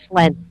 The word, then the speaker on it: Schlientz: Schlientz? Yes. Is that the right way to pronounce it? Yes, that's perfect.